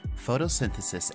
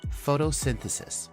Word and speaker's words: photosynthesis: for you to pronounce our first syllable is photo then we have sin followed by the and finishing with CIS and Al together photosynthesis one more time photosynthesis